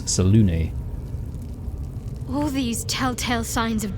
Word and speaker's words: Selûne: It's not Saloon, it's Selûne.